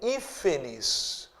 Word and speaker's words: hífenes: E aqui eu tenho hífenes. Tiago, hífenes é uma palavra acentuada? É paroxítona acentuada? Não. Veja só. Hífenes, a sílaba tônica é a antepenúltima.